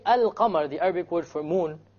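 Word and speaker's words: القمر: lam is silent, and the Arabic word for al-qamar, the lam is not silent.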